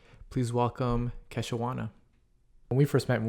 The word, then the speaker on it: Kei-shawonna: Okay, so basically, my name, I always told people was Kei-shawonna, but when you're in elementary school, for some reason, kids have a very hard time pronouncing that.